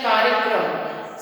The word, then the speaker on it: कार्यक्रम: सही शब्द है कार्यक्रम, लेकिन लिखते समय हम इस प्रकार से लिख देते हैं और अगर इसको देखा जाए तो इसका उच्चारण हो जाएगा कार्यक्रम, जबकि कार्यक्रम नहीं होता, कार्यक्रम होता है।